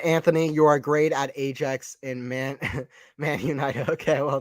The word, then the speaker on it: Ajax: Ajax is how you pronounce it.